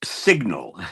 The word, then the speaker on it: SGNL: It's pronounced Signal.